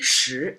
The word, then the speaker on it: 十: Shí retains the pronunciation, doesn't have the E problem because shí is a rising tone.